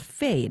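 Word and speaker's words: Phade: easy to use and they're called fade and that's spelled p-h-a-d-e tell us about this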